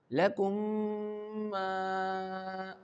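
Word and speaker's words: لَكُمْ: So how can we pronounce this letter and this word? Lakum lakum Feel the sound. If the sound is going into your nose it means you are pronouncing this word correctly.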